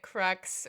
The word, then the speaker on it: crux: I liked that crux rhymed with sex, and the note in there was crux as in cross, which is funny in multiple ways, Tamsin says.